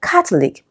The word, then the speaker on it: Catholic: Okay, now the word Catholic, right, we have the k and the ah sound, so it is stressed on the first syllable.